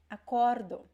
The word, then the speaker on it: acordo: Okay, so present tense would be acordo. Acordo, the stress is in the middle.